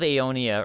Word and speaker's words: Aeonia: merchant down there um the battle of aeonia or especially pronounced ionia i looked it up uh